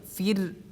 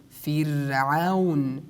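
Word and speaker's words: فرعون: Like the examples, we say fir'aun, fir'aun, fir'aun. We do not say fir. Why? Because ra, we have to pronounce it in tarqiq, because there is a kasra before ra.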